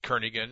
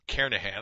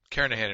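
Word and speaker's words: Kernighan: will be using the kernigan and Richie or Carnahan I should say that g is silent karenahan and Richie see programming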